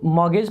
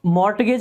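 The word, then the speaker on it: mortgage: सो ये जो होता है ना, इसको मॉर्गेज पढ़ते हैं, मॉर्गेज। सो मॉर्टगेज नहीं पढ़ते हैं, टी साइलेंट रहता है इसमें, आर भी लगभग साइलेंट रहता है।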